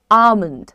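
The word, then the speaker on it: almond: पे रुक जाओ और एक चीज सीखो कि एल इसमें साइलेंट होता है तो प्रोनंसिएशन ओ नहीं होता है अ होता है आप बोलते हैं आमंड आमंड मिंड दैट्ची प्रोनाउंस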